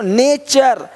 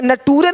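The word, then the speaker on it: nature: question question अब question नहीं बोलते क्वेश्चन नहीं क्वेश्चन क्वेश्चन देखो नेचर यहां पे नटूरे नहीं बोलते नटूरे नहीं नेचर है ना यहां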